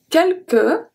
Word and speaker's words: quelques: Et quelques is a very interesting word for the silent letters. Because the U after the Q is never pronounced. So we have the 2 U and then we have the S at the end. Because in this one we pronounce the E.